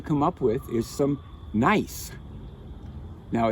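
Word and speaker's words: gneiss: up with is some nice now it's nice to pronounce nice even though it isn't spelled that way you want it it's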